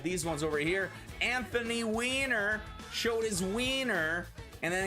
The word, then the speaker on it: Weiner: i looked it up it's not even pronounced whiner yeah i know how do you go your whole life and you go yeah i know it's pronounced weiner you've got the perfect